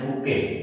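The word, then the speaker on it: bouquet: इसमें T silent है। इसको बोलते हैं बुके।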